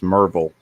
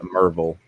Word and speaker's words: Maryville: you're from around here you know it's mervel spelled m-a-r-y-v-i-l-l-e but it's a merville yesterday uh bob was